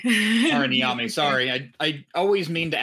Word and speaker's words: Tara Niami: Is that how you say it? It's Tara Niami. Tara Niami, sorry.